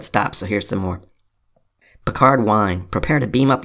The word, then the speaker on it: Picard: Also, our name is pronounced Pickard. No, it's not. It's Picard.